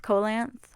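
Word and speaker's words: coelacanth: how to pronounce it it's sounds like coal length colance oh that fish yeah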